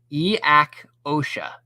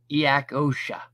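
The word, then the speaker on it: each-uisge: Each usig is Gaelic. The pronunciation is Iak Osha. Iak Osha.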